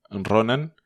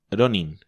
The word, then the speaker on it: Ronin: Hay gente, los gringos sobre todo, que además en vez de decir Ronin dicen Ronan. No se les puede pedir demasiado. Que además debiera ser Ronin, por cierto.